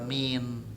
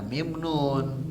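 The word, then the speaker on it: من: Sama seperti huruf jar min, ya, bukan dibaca mim nun tapi min.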